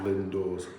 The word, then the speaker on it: Lindores: when I was, and that's how I found Lindores. Yeah. Is that how you pronounce it? The church by the water. Yeah. Lindores.